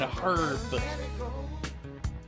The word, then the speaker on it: herb: And you have to pronounce the H in herb.